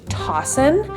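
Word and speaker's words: Toccin: um but this brand it is written T CCI i n and I just looked it up to be sure it is pronounced tosson and that would not have been my first guess so I'm glad I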